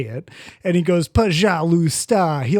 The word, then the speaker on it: пожалуйста: And he goes, пожалуйста.